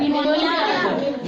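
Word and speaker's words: pneumonia: निमोनिया। निमोनिया लिखा है। ठीक है? इसमें भी पी क्या है? साइलेंट है। पी साइलेंट कब होता है? जब वो एस के पहले आता है या फिर एन के पहले आता है।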